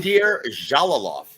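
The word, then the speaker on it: Bakhodir Jalolov: Hopefully, I don't butcher this name too, but Bahodir, is that how you say it? It's Jolalov? Bahadir Jalalov.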